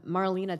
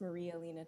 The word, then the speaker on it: Maria Elena: her come up um Marlena is followed by Mary Goodman Miss Parks this is the second time I'm meeting you my name is pronounced Maria Elena thank you very much